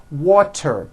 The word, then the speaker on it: water: So if a letter T falls between 2 vowel sounds, which are voiced, so if it falls in the middle of vowels, then the T is pronounced as a D and the whole word is voiced.